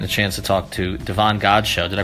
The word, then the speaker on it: Davon Godchaux: today and getting a chance to talk to Devon God show did I pronounce that correctly yes oh my god I